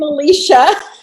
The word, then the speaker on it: Alesia: Did I pronounce both those correctly? No. I'm Kara. I'm Alesia.